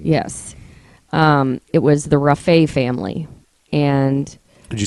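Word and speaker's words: Rafay: washington bellevue washington yes um it was the rafae family and could you spell that r-a-f-a-y rafae family so triple murder yes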